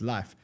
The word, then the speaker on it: LIF3: So let's actually look at Life. Remember I told you yesterday to look at Harry's token, which is LIF. You actually spell it LIF3, but it's Life.